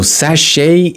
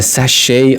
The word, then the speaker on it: sachet: sash to mean that in American English so sachet is used in British English to mean this so we say a sachet of ketchup or a sachet of mustard here